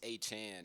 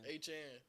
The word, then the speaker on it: Etienne: His I name said, not- I'll be mad if somebody start emailing about Oh yeah, it's not even it's a Chan, ain't it? A Chan. Etienne.